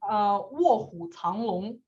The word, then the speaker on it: 卧虎藏龙: What is it in Chinese? Is it one syllable? It's 4, but it's 卧虎藏龙. Okay, so 4 syllables.